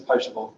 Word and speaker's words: potable: Is it potable or potable? Am I pronouncing it correctly? It is potable.